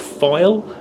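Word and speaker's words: Pfeil: it is made by a company called file uh PF I L I think it's spelled um and this is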